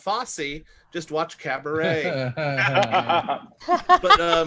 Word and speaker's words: Fosse: oh right nobody says i would love to see a fouchy musical frankie um it's pronounced fosse just watch cabaret but